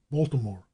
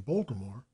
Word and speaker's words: Baltimore: it only in print Baltimore offers an example the natives always drop the medial eye and so reduce the name to two syllables the habit identifies them